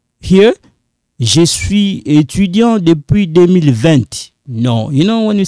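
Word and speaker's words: vingt: Here, je suis étudiant depuis 2020. No, you know when you say 20, no, we say 20. Instead of saying 20, no, you don't pronounce that T.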